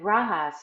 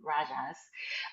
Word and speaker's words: rajas: that's SATA and then rahas is the um or I made me pronouncing it incorrectly rajas um it it's activity